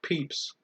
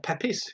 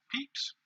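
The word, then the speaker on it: Pepys: it was some of your peeps or pepes if you pronounce it funny p-e-p-y-s peeps and question 20 in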